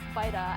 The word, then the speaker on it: Vita: It's pronounced Vita, as in the Italian word for life.